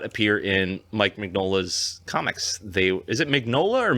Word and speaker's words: Mignola: The elves and the Golden Army do not appear in Mike Mignola's comics.